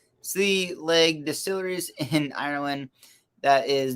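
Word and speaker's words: Sliabh Liag: silky is by uh is it sibyllith or saliva uh pronounced oh pronounced sea leg distilleries in ireland that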